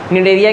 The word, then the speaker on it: Cnidaria: निडेरिया क्यों इसका नाम पड़ा हुआ है? सी साइलेंट है, निडेरिया पढ़ते हैं।